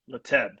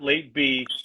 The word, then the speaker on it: Lateb: are speaking with special guest new england rapper leteb not late be late that's how it's pronounced yes that name is that name you're